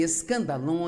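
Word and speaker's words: σκάνδαλον: A palavra ofensa vem de uma palavra grega, pronuncia-se escandalon e é, na verdade,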